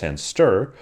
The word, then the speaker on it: &str: This is where the second string-related type &str, often pronounced &stir, or called by its longer name, string slice, comes in.